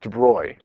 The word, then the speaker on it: de Broglie: between b and a a guy named Lou de Bry it's it's pronounced de Bry but it's spelled de brole good name Louis de Bry proposed an argument a hypothesis purely based on